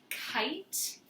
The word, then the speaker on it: kite: And then we have the word kite. Kite. Kite would go on this side. Makes a long I sound. Has that E at the end, kite.